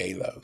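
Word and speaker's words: Aylo: y l o a Alo took me a month to figure out how to say it but now it's just easy alo alo it's a madeup word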